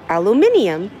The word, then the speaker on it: aluminium: My friends are like, how do you pronounce aluminum in the States? And I say aluminum. And they're like, oh, in Australia or the UK, they say aluminium.